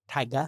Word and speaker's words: Tyga: rapper tyga spelled t-y-g-a kind of pronounced like tiger but taiga deleted his only fans